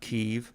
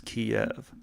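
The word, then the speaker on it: Kyiv: last time I was it's not Kiev it's Kiev say it properly I was there and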